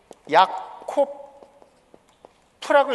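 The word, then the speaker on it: יעקב: 야곱이라는 인물 있잖아요 예 그걸 야코 프라고 읽습니다 야코프 야곱이라 뜻인데 야곱의 이름을 이스마일로프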